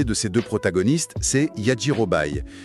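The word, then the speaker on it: Yajirobei: Voilà, le premier de ces deux protagonistes, c'est Yajirobai. Et on doit bien prononcer Yjirobé et on doit utiliser son nom complet, hein. D'accord ? Yirobé.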